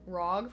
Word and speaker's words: ROG: ROG, pronounced like rogue.